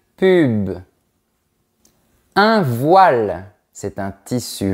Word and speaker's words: pub: Attention parce que la prononciation est différente. Un pub, une pub.